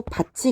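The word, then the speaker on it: 밭이: 자, 여러분 미다지 같은 경우는 디귿이 올라가서 미다디 디귿타 이 모음하고 만나서 미다지라고 발음을 하게 됐죠. 그리고 바치 같은 경우는 바 티읕이 올라가서 티읕하고 이 모음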